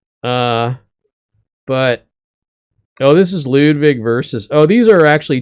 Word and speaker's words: Ludwig: just so uh uh well Ludwig is that's how you say it in German so it says Ludwig I guess you could say Ludwig also but I don't know